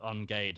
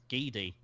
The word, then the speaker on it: Geedy: I'm pretty sure when I visited him, he corrected me on Gade and said it's Geedy. Oh, okay. Apparently you actually pronounced the E.